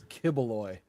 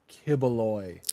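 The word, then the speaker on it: Quiboloy: I don't I think it's Kibaloy. Kibaloy. Q UI B O L Y. Yeah, looking at looking at the pronunciation on Wikipedia, I think it's Kibaloy.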